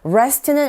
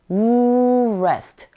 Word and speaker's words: rest: rest는 R 사운드 나오네요. 어떻게 하시라고요? 말씀드렸는데 네, 잘 기억하고 계시네요. rest, rest. 입모양을 우한 상태에서 rest 하시면 정확한 R 발음 구사할 수 있습니다.